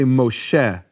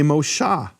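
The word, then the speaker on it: משה: For example, in the Babylonian pointing they don't say Mosheh for Moses, which we do in Tiberian Hebrew, they say Moshah, in fact they don't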